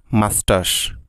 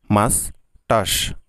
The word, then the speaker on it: moustache: Next অঙ্গটি হলো গোফ, গোফের ইংরেজি হলো মাস্টাশ। গাইজ উচ্চারণটি ভালো করে খেয়াল করুন, মাস্টাশ, মাস্টাশ, MOUSTACHE, মাস্টাশ, যার অর্থ হলো গোফ বা মোচ।